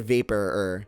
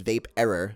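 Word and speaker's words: Vaperror: right vapor vape error i always said vapor and then everyone corrected me saying it was vape error i think i actually asked jeff once how do you pronounce it properly and he said vape error so i was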